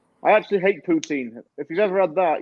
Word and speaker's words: poutine: Poutine. I actually hate poutine.